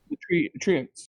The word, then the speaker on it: treant: No, not tenants, like the tree people, the Trents. The treants. That's how I pronounce it, at least.